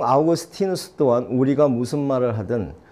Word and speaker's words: 아우구스티누스: 저도 아주 과거에는, 성 아우구스티누스 이렇게만 알았어요. 라틴어 발음이잖아요, 그죠? 영어로 어떻게 뭐라 말하는지 아세요? 그래서 처음에 그쪽 가서 공부를 할때못 알아들었어요. 누군지. 우리 그냥 성 어거스틴 이렇게 한단 말이죠. 세인 어거스틴 이런단 말이죠.